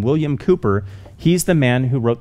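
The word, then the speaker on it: William Cowper: heard of the name william cooper most people don't recognize that pronunciation because it's spelled c-o-w-p-e-r if you've ever seen that name william cooper he's the man who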